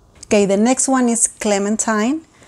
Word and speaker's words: Clementine: Okay, the next one is Clementine. It's a French name that means mercy. In the US, we pronounce it Clementine, but in French it's Clementine.